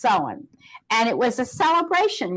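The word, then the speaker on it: Samhain: pronounced sa ma che i n but it's pronounced so on and it was a celebration where everyone wore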